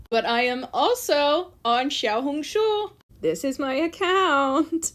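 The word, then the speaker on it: 小红书: The Chinese pronunciation is Xiaohongshu.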